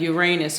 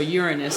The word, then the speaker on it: Uranus: We have Uranus or Uranus, however you want to pronounce it.